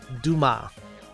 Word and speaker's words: Dumas: A royal Duma. That is how we pronounce it in France.